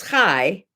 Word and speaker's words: chai: number blah blah blah anyway 18 which is high times 5 equals 90.